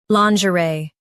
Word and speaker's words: lingerie: lawn zhuh ray lingerie lawn zhuh ray lingerie Now, let's focus on British pronunciation of this word. lingerie Now, read the syllables of British pronunciation shown on the screen naturally. lawn zhuh ree lingerie lawn zhuh ree lingerie In US, stress ray. In UK, it's ree.